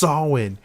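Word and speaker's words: Samhain: Fun fact, like, if I said this wrong, Stony would, like, yell at me, because she's like, it's pronounced Salwin.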